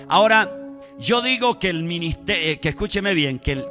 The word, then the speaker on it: minister: esta palabra ministro o ministerio que es la misma deriva de una palabra latina que se pronuncia si se pronuncia minister significa sirviente significa que